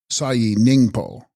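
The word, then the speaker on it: Sahi Snyingpo: And text, Sahi Sningpo, pronounced Sayi Ningpo, Sanskrit Kitagarbha, womb or matrix of the earth.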